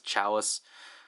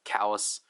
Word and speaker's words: Chalice: pronunciation on is Callus, because I used to pronounce it as Chalice, but then I got yelled at for pronouncing him as Chalice, so I now pronounce him as Callus.